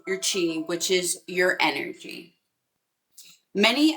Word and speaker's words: chi: cover is called your chi, which is your energy. Many assert that the idea of crystal energy has roots in the Chinese concept of life energy, or your chi, or some pronounce it ki.